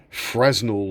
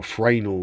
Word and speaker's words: Fresnel: of the sun through a fresnel lens or franal lens pronunciation which focused the beam